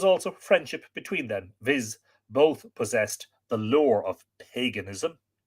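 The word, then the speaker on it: Bodb: swine heard above that's b o d b pronounced both the latter king of the she of monster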